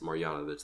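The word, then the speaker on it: Marjanović: I didn't these yanovich are so difficult to pronounce so boban marianovich I believe that is yes marianovich that's who it is I said it right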